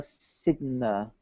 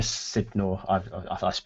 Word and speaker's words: Sidor: their surname wrong um Julia Sidner sidor of pixel FR yeah Julia sidor pronounced yes yes I haven't contacted